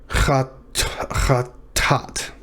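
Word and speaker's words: חטאת: Chatat is how I would pronounce it. I would syllabify it this way.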